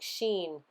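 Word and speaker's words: Shin: the serpent biting you the name is pronounced like Sheen which is the S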